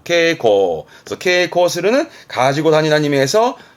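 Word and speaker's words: 携行: 다니는 거 즉 가지고 다니는 휴은 가지고 다니는 발음은 케고 케고 그서 코스는 가지고 다니 미에서 어찌보면 왼쪽에 휴대와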